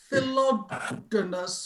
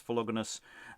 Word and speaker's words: Philogonus: I'm going to agree with Lois on the hard G. Generally, I would think they're all hard Gs, because they would be from the Greek gramma.